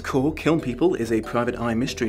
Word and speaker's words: Kiln People: Kiln people, often mispronounced killing people, which I assume was